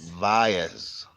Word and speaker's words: Valles: I can't pronounce it. The Vayas. Valles, yeah, Valles caldera, um, in which it's an extinct volcano.